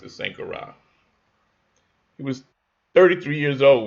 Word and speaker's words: Sankara: I believe they pronounce it Sankara.